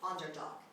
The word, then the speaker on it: underdog: 10 underdog underdog underdog destress is on the first syllable underdog person having the worst